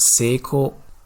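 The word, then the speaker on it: 成功: In Japanese, it's pronounced 成功.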